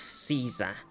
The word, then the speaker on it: Caesar: Is it weird that we pronounce it Caesar when it is pronounced more like Kaiser?